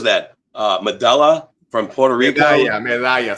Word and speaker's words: Medalla: Medalla, saying it right. Medalla with double L.